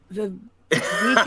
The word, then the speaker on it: Vivek: Vivek, it rhymes with leak.